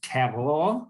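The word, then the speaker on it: Cahors: we are in uh what the french would say is cavallo right we would not pronounce the h uh and the great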